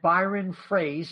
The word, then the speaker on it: Froese: for David Schlemko and Byron Froese, even though it's spelled like froze.